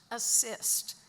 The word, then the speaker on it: ASST: which is abbreviated ASST, which is pronounced assist, because this group got